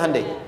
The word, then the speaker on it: Hyundai: bikin Honda sini hundai Hyundai kan dibacanya hundai ya kan sana Honda sini